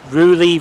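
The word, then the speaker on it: Rewley: And where that dead end is used to be the platform that started for Oxford Rugeley Road Station. It's spelled R-E-W-L-E-Y.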